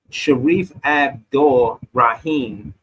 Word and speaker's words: Sharif Abdul Rahim: Sharif Abdul Rahim, right?